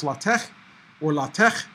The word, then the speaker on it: LaTeX: pronounced it is not lei tech okay this is not gloves it is not plastic it is pronounced a lot of tests or lot of tech as in Bach but you know it's